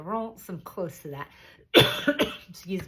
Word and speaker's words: Reims: You might know it as Reims, but it is pronounced closer to Reims.